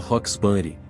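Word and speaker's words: Roxbury: nome sendo que Doutor roxburi em Beverly Hills o rocks tem a mesma pronúncia de rock os outros fatos que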